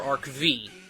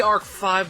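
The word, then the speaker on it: ARC-V: next up is yugioh arc 5 or arc v however you want to pronounce eights but supposed to be arc five but I know some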